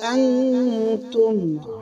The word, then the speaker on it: أنا: ব্যতীত আনা টানা মানা এই আনা শব্দটা টানিয়ে পড়া যাবে না শুধু কোরআনের ভিতরে চার জায়গায় আনা টানিয়ে পড়তে হয় আনা